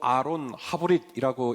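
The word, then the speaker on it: אֲרוֹן הַבְּרִית: 언약궤를 말할 수가 있겠습니다 언약궤는 히브리 말로 아론 하브릿이라고 읽을 수 있는데요 하브릿지라는 말이 언약이라는 말이에요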